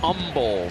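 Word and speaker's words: Humble: The kid from Umble, Texas. No hate. No H. They don't hate. No H. H is silent.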